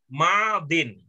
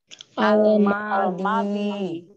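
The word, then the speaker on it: ماضٍ: Madin. Apa? Madin. Tapi dia kalau ditulisnya ada alif lam di awalnya, bacanya menjadi Al-Madi. ya, bacanya menjadi al-madi. Kalau ada alif lamnya. Kalau tidak ada alif lam, bacanya Madin.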